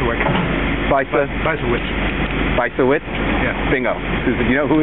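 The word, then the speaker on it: Bysiewicz: say her name B wit bis bis wit bisa wit yeah Bingo you know who is she yeah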